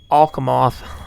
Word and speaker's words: Alcamoth: I remember Alcamoth. That's how they say it.